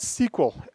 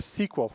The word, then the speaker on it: SQL: by IBM at first originally was called sequel literally written like sequel it's true I stayed for a structured English query language thus as the SQL people tend to keep pronouncing it a sequel which is really bad